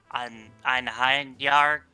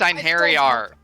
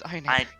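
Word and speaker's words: Einherjar: I can only promise that I will never learn how to pronounce Einheinyar correctly. We don't know either. It's Einheriar. It's Einheriar.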